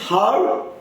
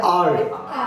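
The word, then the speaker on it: hour: इज इट हार या आर? Yes, clear है बाबू? तो ये आर हो गया, क्या क्या हो? आर। बस अब यहाँ पर एच क्या हो गया? साइलेंट। तो हम लोग पढ़ क्या रहे? एच को हटा के पढ़ रहे, एच को नहीं पढ़ रहे।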